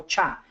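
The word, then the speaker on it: SHA: que es el algoritmo el famoso algoritmo sh o como todo el mundo lo pronuncia el algoritmo cha o sea cha es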